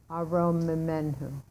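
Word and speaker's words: ארוממנהו: But because there's two Mems in a row, you have to pronounce a Shva under the first one. Arom Memenhu. Arom Memenhu. Just a small sound there, okay?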